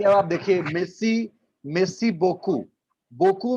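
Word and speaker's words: beaucoup: लेकिन इसको बोलते हैं बोकू, तो ऐसा करके लगता है कि इतना ज्यादा क्यों वर्ड है, इतना ज्यादा क्यों वर्ड है.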